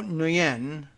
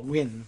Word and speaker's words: Nguyen: I think it's actually pronounced without the N at all, Win, but I don't know. I want that N in there somehow.